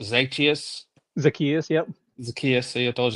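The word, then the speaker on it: Zaccheaus: Olamide, I believe it's pronounced Zacchaeus. Zacchaeus, yep.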